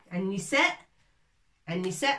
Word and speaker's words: النساء: An-nisa, c'est des femmes. Al-rijal, hommes. An-nisa, النساء تكتب هكذا النساء ألف هنا ولكن لا تنطق ولا prononce pas.